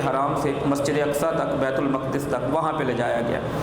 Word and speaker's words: بیت المقدس: المقدس میں موجود تھے۔ بیت المقدس بھی پڑھا جا سکتا ہے لیکن زیادہ درست اس کا تلفظ بیت المقدس ہے۔ وہاں پہ لے جایا